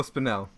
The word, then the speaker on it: Spinell: So one of them I have is Maniac with Joel Spinelli, right? Is that how you say his name? Joe Spinell.